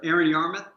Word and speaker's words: Aaron Yarmuth: Can you pronounce it for us? Sure. Aaron Yarmuth. Aaron Yarmuth.